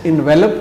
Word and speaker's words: envelop: ہے انویلوپ، انویلوپ۔ اور اگر آخر میں ای نہیں ہے تو پھر یہ لفظ انویلپ ہوگا اور ورب ہوگا، اس کے معنی ہوں